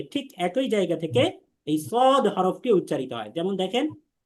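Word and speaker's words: ص: সদ সিন এবং যা তিনটা হরফ একই জায়গা থেকে উচ্চারণ হয়। সেটা হচ্ছে সামনের শাড়ির নিচের দুইটা দাঁতের পেট। কিন্তু উচ্চারণের ধরণে পার্থক্য। ধরণটা কি?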